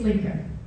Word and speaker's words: Lieke: But really, my name, quite easy, it's Lieke. And especially scientists can pronounce my name quite well when I tell them it's got the same sounds as Lieke.